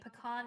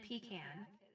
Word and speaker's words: pecan: It's like pecan and pecan.